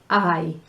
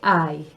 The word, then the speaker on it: hay: La H, silencio. Don't say it.